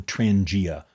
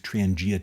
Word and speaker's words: Trangia: the most over the years is called the Transangia. That's spelled T R A N G I A.